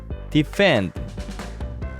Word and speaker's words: defend: F 발음에 주의하며 다시 읽어보도록 하자. defend.